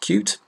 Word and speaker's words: Qt: my slide import the I Q T core pronounced cute it's the actual QT library cross-platform library that's